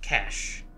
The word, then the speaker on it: cache: But two, because the proper pronunciation is the most confusing way to pronounce it, and that's C-A-C-H-E. It's just cash.